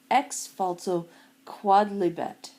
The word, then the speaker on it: Ex Falso Quodlibet: this lecture will explain the rule of X falto quad liet that's how it's pronounced it's it's quad not quoe like it